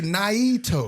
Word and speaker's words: NIITO: We'll get on stage and pronounce it and spell it out. I'll say Naito.